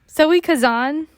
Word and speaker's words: Zoe Kazan: cavada it's zoe what a name zoey kazan zoe kazan okay but she's been in she's been in